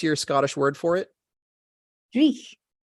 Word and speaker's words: dreich: Dreich. Dreich. How would you spell that word?